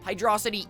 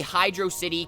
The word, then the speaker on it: Hydrocity: might as well confess hydrosity is my preferred pronunciation sure those who say Hydro City can claim that they technically have correctness on their side but I'm not going